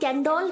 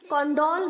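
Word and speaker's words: condole: बहुत सारे बच्चे इसे कॉन्डोल बोलते हैं, क्योंकि सी के आगे ओ लगा है तो वो कॉन्डोल बोलते हैं। गलत प्रोनाउंस है बच्चों, कॉन्डोल नहीं होता है, कैंडोल होता है।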